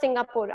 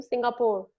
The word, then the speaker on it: Singapore: It's actually Singapore. It's not Singapore. लिखते तो हम PORE है, पर हम बोलते सिंगापुर है, PUR की तरह. It's not Singapore. I didn't go to Singapore. I went to Singapore.